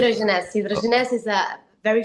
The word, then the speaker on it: Hidrogenesse: Hidrogenesse.